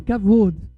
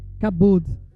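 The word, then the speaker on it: כָּבוֹד: Nós sabemos que a glória não é kabod, mas como no hebraico a letra B e a letra V elas são o mesmo desenho, só quem sabe a pronúncia realmente é quem conhece o idioma.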